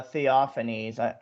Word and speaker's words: Theophanes: it might be uh theophanese sorry yeah they pronounce they pronounce the E like they don't have a silent E yeah I think it's